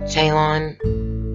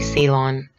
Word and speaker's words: Ceylon: says pure Ceylon tea I don't know if you pronounce that jaelyn but it's really Ceylon and they're calling it